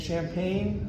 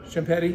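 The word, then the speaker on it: Champagnie: So, and Champagne, or I don't know if that's how you pronounce his name. Champagny, yeah. It's spelled like champagne, but it's pronounced.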